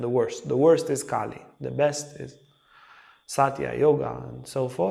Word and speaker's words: Kali: beginning of Kali Yuga now Kali is not the goddess Kali it's a short a Ki is the goddess